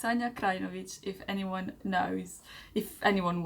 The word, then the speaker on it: Krajnovic: And my last name is Krajnovic, so it's not Krajnovic, or I think that's what the most people do.